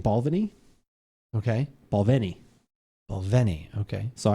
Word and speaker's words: Balvenie: She's like, she's like, a lot of people say Balvenie. She gets, it's Balvenie. Like, okay. So the accent is on the Ven.